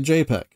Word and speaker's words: JPEG: Or look at JPEG, which is spelled either J-P-E-G or just J-P-G, but it's commonly pronounced as I said, J-PEG.